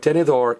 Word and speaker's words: tenedor: Last Vow get stress but denor ends with an R this is what I call a lizard word remember in Spanish words that end in l z r or D the very last vow gets stressed let me say that